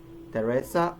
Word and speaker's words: Teresa: An exception to this case is thus of some words that are pronounced with a normal T, even though they are spelled with a th, as in Thomas, Teresa, or Thames.